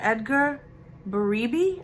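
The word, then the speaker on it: Edgar Berebi: early 80s these are Edgar baribe I hope that I'm saying it right it's b-e-r-e-b-i and these earrings I bought for a dollar and they're going for anywhere between 30 and 40.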